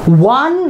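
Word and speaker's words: one: তারপরে ওয়ান rupee note, এইখানে কি, এইখানে কি আমরা আ অ হর্ষই দীর্ঘই কোনোটা কিন্তু উচ্চারণ আসছে কি না, তোমরা বললে স্যার হ্যাঁ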